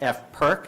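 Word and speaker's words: FPRC: policy review committee and it should be pronounced F perk not in any other way even though some people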